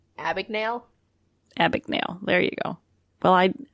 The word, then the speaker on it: Abagnale: And Frank, I can never pronounce his name right. Abagnale? Abagnale.